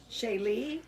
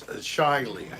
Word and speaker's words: Shaylee: Yes, it's Shiley. No, Shaylee. It's Shaylee? She said, you need to teach him how to say my name, Darlene. Shaylee. Shaylee? You don't want Shiley? Why don't you spell your name S-H-A-Y? Oh, step up. L-E-E. So that I can read it phonetically. Are you in Do Not Disturb?